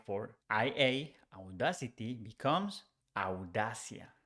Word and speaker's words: audacia: for IA, audacity becomes audacia. Audacia. Here it's important to say that audacity sounds like O at the beginning, but in Spanish we don't say O, we say au, au, audacia, audacia.